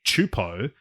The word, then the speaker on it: Csupo: wild they are both series created by klasky chupo which is the pronunciation of uh gabor chupo's last name um